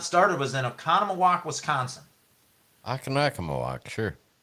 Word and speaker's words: Oconomowoc: And how do you say it? Did I say it wrong? No, you actually said it right. You said I it said it 100% wrong. right. Yeah. Okay. It is Oconomowoc.